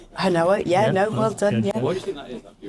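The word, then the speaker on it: Hinowa: I pronounce that right? Hanoa, well done.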